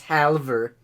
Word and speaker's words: halve: Humorous halver. Halve? Because, you know, it cuts it in half. It has an L in Yeah, but you don't pronounce the L.